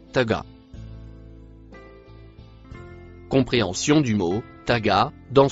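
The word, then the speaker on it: طغى: Le mot en vert se prononce taga.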